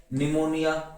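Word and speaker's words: pneumonia: फिर P silent देखो, कव, cupboard, cupboard, SIDO, निमोनिया, psychiatrist, cyclist, psychology, psychotherapy, ठीक है, साइकोटिक, रेस्पबेरी और रिसेव।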